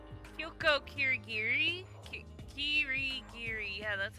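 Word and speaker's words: 霧切: Ah, my pronunciation! Kyoko Kirigiri? Kirigiri.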